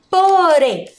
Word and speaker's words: porém: a sílaba a pintaram Vamos agora para a palavra porém porém Qual que é a sílaba mais forte a sílaba Rem porém Então vamos pintar